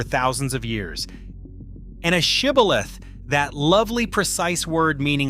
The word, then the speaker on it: shibboleth: the fleeing enemy by forcing every man to say one word, shibboleth. Men from the losing tribe could not pronounce that sh sound. They said sibboleth instead, and by that single